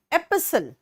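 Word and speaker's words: epistle: होता है नेक्स्ट आओ एपिसल बेटा एस्टल लिखा हुआ है टी यहां साइलेंट है एसल यह होते हैं धर्म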